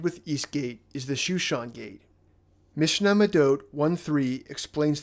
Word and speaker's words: Shushan: Shushan is the Hebrew pronunciation for the city of Susa, which was the capital of the Elamite Empire in Persia.